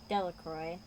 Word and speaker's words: Delacroix: Bobby and Harry Jones and Dicky delacroix villagers pronounced this name delacroix uh-huh eventually made a great pile of stones